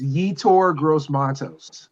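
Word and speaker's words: Yetur Gross-Matos: It's Yetur Gross Matos.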